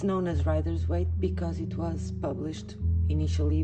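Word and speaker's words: Rider-Waite: i was saying it right um it is writer's weight because writers was the first publisher it's the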